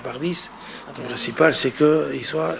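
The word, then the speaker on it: Pardies: Voilà donc il s'appelle monsieur Sébastien par 10 alors que ça s'écrit D i E S. On pourrait dire c'est madame Bardè ce que j'ai dit moi la première fois il m'a repris en disant non c'est monsieur par 10 donc soit par 9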